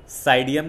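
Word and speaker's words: Psidium: Guava का देखो साइडियम guava, P silent रहता है, साइडियम गुआवा, गुआवा का गुआवा ही है, टिक करके आओगे।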